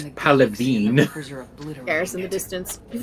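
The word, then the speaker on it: Palaven: Actually, it's Palavine.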